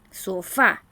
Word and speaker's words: sofá: La palabra sofá se carga la voz en la última sílaba, ¿verdad? Sofá.